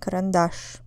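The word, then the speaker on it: карандаш: how about Kash Kash on the third a in this word pencil karandash is dictionary how about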